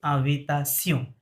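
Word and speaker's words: invitation: ফরাসিতে ওইটা হবে কি আভিতাসিয়ন।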